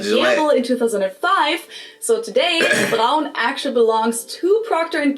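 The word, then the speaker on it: Braun: Brown or brown with an American accent, which would have made sense because brown is the German word for the color brown. But when I did some research for this video, it turned out that Americans and British people too actually pronounced this brand. Brun, Brawn, Brun, Brun, something along those lines, which sounds really weird to my ears.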